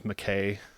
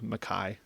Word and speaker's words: Mackay: Even when I was back in school, people called me McKay, and it's not McKay, it's Mackay.